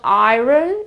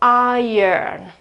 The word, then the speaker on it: iron: So it's Iron Man, it's not Iron Man or something.